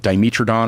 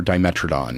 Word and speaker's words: Dimetrodon: but it's spelled the same, but it's like Dimetrodon or Dimetrodon.